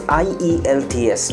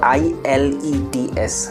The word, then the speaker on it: IELTS: hair we have to say is that is IELTS not I l.e.d.s I let's know Isles okay the Kurt thing